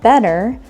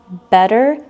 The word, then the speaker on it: better: notice that the word better when pronounced with an American English accent doesn't sound like two T's put together it sounds like two D's better not better and one last sentence